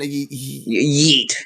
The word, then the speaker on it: yeet: you say that again yeet yeet yeah yeah meat yeah don't don't like eat but with a Y at the beginning exactly so Mr Man